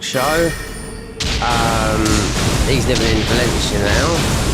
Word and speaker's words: Valencia: Um, he's living in Valencia now. Or as they say in Spanish, Palenthia.